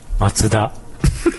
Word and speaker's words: Mazda: Mutatom a Mazdát, merthogy ugye hát ez is egy japán márka és egyáltalán nem úgy szól, ahogy egyébként ennek szólnia kéne, vagy ahogy mi mondjuk ez a Mazda helyes kiejtésse. Macuda.